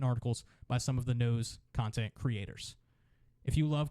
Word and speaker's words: Kneaux: sure to check out the No Network. That's KNEAUX, the only way to spell it.